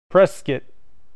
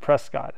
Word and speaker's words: Prescott: Prescott, like biscuit. Prescott, okay, cool. Only tourists pronounce it Prescott.